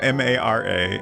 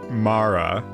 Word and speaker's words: Mara: Mara damn it uh I talked to unse crush about the the best way to pronounce this name m a r a and we agreed it was Mara but I can't I keep my brain keeps wanting to do the other one even though I would generally pronounce it Mara anyways um Mara an